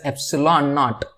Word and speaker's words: epsilon naught: It is pronounced as epsilon naught, where epsilon naught is nothing but the permittivity of free space.